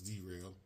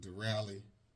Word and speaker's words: Derale: got our der rally I've been saying it wrong I thought it was derailed but der rally um fan here I